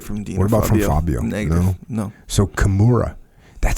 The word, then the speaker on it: Kimura: got you in a chimura by the way I saw a comment on YouTube about my pronunciation of Chimera what's the proper Kimura Kimura Kimura okay so what am